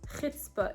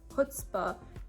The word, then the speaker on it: chutzpah: The next word is chutzpah, which is pronounced chutzpah in my Yiddish dialect. Or you might hear it also being said as chutzpah for English speakers who can't say the ch sound.